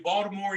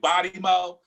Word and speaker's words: Baltimore: You say Baltimore. You can say Charm City. You can say Bodimo.